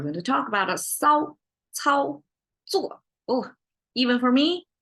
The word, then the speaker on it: 骚操作: And they are all what you call 平舌. So you don't curl your tongue in these pronunciations. You have to go flat.